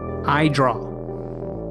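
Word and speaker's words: Edraugh: You can find Nathaniel and his work on Instagram and Blue Sky at Idraw. that's spelled E D R A U G H.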